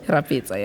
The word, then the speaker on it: Rapetsoa: Rapetsoa, am I saying it right? Rapetsoa, yeah. I always feel like I say your surname wrong.